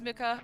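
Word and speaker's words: Mucha: lot of realism inspiration it is Muka okay yeah I was like I've heard people pronounce it different ways I I I always thought it was Muka but then I heard some other people pronounce it and I was just like I don't know which one it is but yeah the pogy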